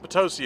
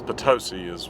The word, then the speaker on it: Potosi: It's Potosi. Potosi. Okay, whatever. Potosi Mountain. Potosi. Nobody would pronounce it Potosi. That's stupid. It's Potosi. It's like pronouncing potato, patata. It doesn't make any sense.